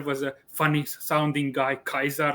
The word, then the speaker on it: Caesar: didn't speak this way they pronounced it as kaiser kikeru and i i believe